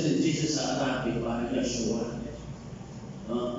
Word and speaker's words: Yeshua: sa pagkat pati pangalan ni Jesus dati yung pronunciation kasi ni Jesus sa Arabic parang yoshua no Yeshua pinalitan nila ng isa sapagkat sa pangalan di